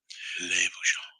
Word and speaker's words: Bouchon: French is funny. They put ends at the end of the word and then almost pronounce it. Yeah. Le Bouchon. Yeah. Almost pert near.